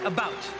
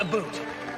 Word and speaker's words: about: I speak English and French, not American, and I pronounce it about, not a boot.